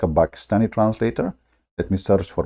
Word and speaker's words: Pakistan: How the Quran says, by the way, this is the correct way to say it, not Pakistan, like in English, you know, that's funny. It is Pakistan, okay?